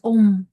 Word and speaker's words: Om: word AAR Brahma om it has three syllables a m it's not just the a that comes through the oral cords om no it has three